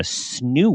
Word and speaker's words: Snoo: parenting perspective, I had no idea what a snoo was. Right. Like, is that how you pronounce it?